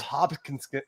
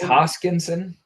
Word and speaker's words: Hoskinson: I don't think Charles hopin hop I always say his name wrong hopin I think it's hoskinson hoskinson does he buy his